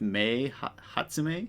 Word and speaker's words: Mei Hatsume: My Hero Academia, and so I went with Mei Hatsume, I think is how you say it.